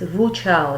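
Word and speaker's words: Wu Zhao: It's not a Z is silent here, and I checked its pronunciation. It was Wu Chao. They pronounce it Wu Chao.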